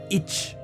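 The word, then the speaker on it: いち: ichi for one right ichi it's not always pronounced ichi sometimes it's itch right so the kind of the she part kind of gets cut off a little bit and that's what's happening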